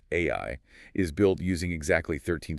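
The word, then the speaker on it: 愛: The Japanese kanji for love, which are pronounced AI, is built using exactly 13 strokes of the brush.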